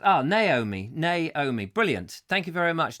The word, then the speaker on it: Naomi: It's pronounced, Naomi, brilliant.